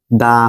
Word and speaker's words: the: তাহলে এটা কি হবে দা হবে ঠিক আছে উচ্চারণটা কি হবে দা পেন এটা দি পেন হবে না যদি আমি এক বলি এক তাহলে এটা কি হবে দি এক দি এক দা পেন ঠিক আছে মনে জানি থাকে